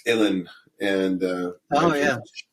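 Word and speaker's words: uilleann: something it's it's pronounced Ellen and uh oh yeah rhymes with chilling and uh it's it's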